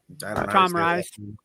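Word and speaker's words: Tom Rhys: How you pronounce that? Tom Rice.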